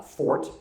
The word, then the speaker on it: forte: I know it's not Jason's uh fort. That word is not pronounced forte. It's fort.